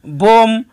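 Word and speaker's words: bomb: যেমন বোম এবং থাম্বনেইল দুটি শব্দের মধ্যে বি এর পরে কোনো ভয়েল ব্যবহৃত না হওয়ার কারণে বি এর উচ্চারণ হবে না।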